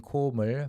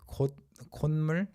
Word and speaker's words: 콧물: So 코 plus 물, instead of saying 코물, for various reasons, people started pronouncing it like 콧물 over time, verbally, and the 시옷 is